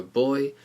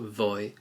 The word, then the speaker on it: voy: go and remember that the v in Spanish is pronounced more like a b so it's not voy but boy so let's just focus